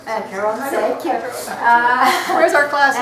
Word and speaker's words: Acheron: Acheron, thank you.